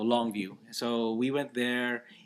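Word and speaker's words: Longue Vue: family, and it's called Longview, and it's spelled really weird. Longview, L-O. It's like tongue, how you spell tongue, Yeah. but with an L, and view would be VUE. So Longview.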